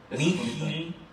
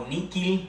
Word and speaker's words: nihil: Sine me, nihil, hay dos pronunciaciones en alemán. Bueno, es que no vamos a discutir. No. Pero vamos a hacer. Es al final lo mismo. Nihil o nikil.